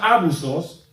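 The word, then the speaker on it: ἄβυσσος: Esta palabra que en griego se pronuncia abusos, toda la confunda con abuso en español, eh es en sí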